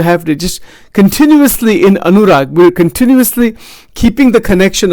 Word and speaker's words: anurag: I'm not saying it right. It's anurag. The word is rag. But anurag.